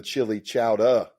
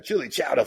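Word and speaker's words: Chillicothe: Hey, we were at it was me and a bunch of outlaws and we were at the Chili Chowa. That's how they pronounce it there. Chili Chowa Festival.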